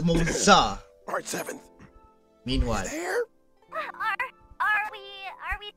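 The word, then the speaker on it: Moze: So it's pronounced Moza.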